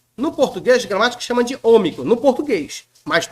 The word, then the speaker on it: ômicron: dessa letra aqui é o micron português gramática chama de ômicron no português mas no Grego é omicron omicron omicron como na palavra óleo e a vogal aberta omicron essa outra letrinha